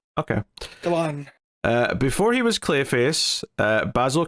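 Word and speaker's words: Galán: Doyle, and from art by Fran Galan, or maybe Galen, maybe you pronounce that. Yeah, I know there's an accent on the last A, so I think you're right the first time. Okay. Galan.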